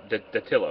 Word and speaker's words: Datillo: I am pronouncing that right? Datillo, right?